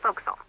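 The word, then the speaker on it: forecastle: ship but it's pronounced folksall why is that try pronouncing it like an English sailor with no formal education faux Castle overtime at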